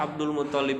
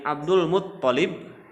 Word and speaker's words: Abdul Muttalib: Jadi nama-nama anak dari Abdul Muttalib, jadi tasdidnya di to, ya, bukan di lam. Abdul Muttalib sebetulnya gitu, tapi kadang suka kepleset.